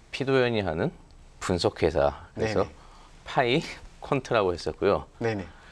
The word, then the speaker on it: 파이퀀트: 파이 퀀트라고 했었고요. 네네. 또 이게 프랑스어로 삐깡이라고 읽히고 있는데 네네.